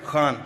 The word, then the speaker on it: Khan: Khan from the Epiglottis.